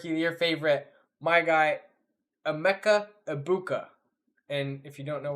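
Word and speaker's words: Egbuka: My guy, Emeka Ibuka. And if you don't know why I pronounced it so carefully, there's a Rob Gronkowski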